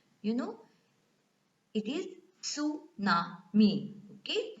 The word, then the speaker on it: tsunami: Even though it starts with T, you know, it is tsunami. Okay, T is silent in this tsunami pronunciation.